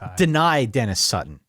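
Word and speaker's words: Dani Dennis-Sutton: It's deny Dennis Sutton. Deny Dennis Sutton. DDS. Deny Dennis Sutton. Yep. I knew better, and I still screwed it up. But deny Dennis Sutton is the name to watch.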